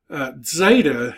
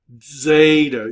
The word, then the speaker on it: Zeta: Epsilon is in peg Zeta is really a D and Z sound together Zeta you're kind of half